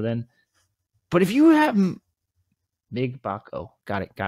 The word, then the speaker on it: Mgbako: But if you have Mgbako, got it, pronounced it right.